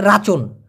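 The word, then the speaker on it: racun: হ্যাঁ, এবার হচ্ছে ভাই, মালাইওরা বলেছে, মানে মালয়েশিয়ানরা বলেছে কালকে রাসুন দিতে হবে, মানে রাচন, এটা হলো রাচন, রা CUN, উচ্চারণটা হচ্ছে রা চুন।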